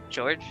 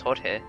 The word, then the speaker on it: Jorge: George? With a J? That's Jorge. Is it Jorge? Understood? Yeah, it's Jorge.